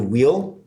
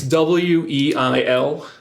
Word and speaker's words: Weil: It's W-E-I-L. Okay. And the original German would be Weil. I thought there was an R in there. Yeah. No, there's no R's in there. The original German is Weil, which my dad loves